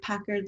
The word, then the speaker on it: Packard: Everyone thinks that it's either Packard the car or Packard like Hewlett Packard, and yes, it is like pronounced the same.